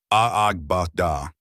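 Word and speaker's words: agbada: Abada West African pronounced aagba.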